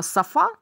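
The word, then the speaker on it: sofa: звучит так лучше диван Как слово Софа только ударение на первый слог номер 12 Она часто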